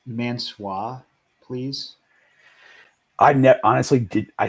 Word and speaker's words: Mansoor: It's Mansoor, please. Honestly did. I said Mansoor because I didn't know how to pronounce Mansoor, and is it Marseille?